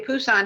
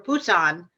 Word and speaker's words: Busan: uh the city of busan had over a million people at that time and by the way the the phoneme for busan is sort of a cross between a p and a b right so very often